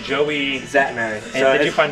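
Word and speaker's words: Szatmary: He's a Zatt Strength, but his last name is spelled S-Z-A-T and then M-A-R-Y. But just Zatt Strength on YouTube, same thing on Instagram.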